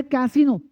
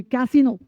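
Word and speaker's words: casino: पहला है कैसीनो। सी ए एस आई एन ओ। इस आई का उच्चारण डबल ई जैसा साउंड होगी। कैसीनो कैसीनो कहते हैं जुआघर या नाचघर।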